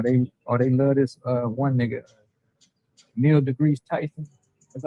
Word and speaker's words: Neil deGrasse Tyson: Whether it's a politician or they love this one nigga, Neil deGrasse Tyson.